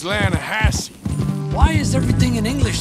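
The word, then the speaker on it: Lannahechee: steelhead trout you maiden Elana Hasse no no no but the latter edge it runs right near here yeah but it's pronounced Lana Hass why is everything in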